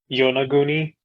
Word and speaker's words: Yonaguni: of it, is that the show does not seem to be pronouncing it correctly. It's Yonaguni.